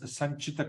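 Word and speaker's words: सञ्चित: So the three correct pronunciations for the word is sanchita karma, no long vowel there.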